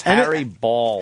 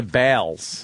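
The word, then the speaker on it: Baals: Yes, Harry Balls. And it's Harry Balls. It's spelled B-A-A-L-S. That's balls. B-A-A-L-S. Maybe go Harry Balls. The guy tried to change it to Bales.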